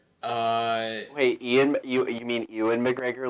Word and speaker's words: Ewan McGregor: it has John Cleese, Ian McGregor, Wait, you mean Ewan McGregor like the Ewan McGregor like Obi-Wan Kenobi? yes, exactly. Okay. I can't really pronounce his name, so I just call him Ian.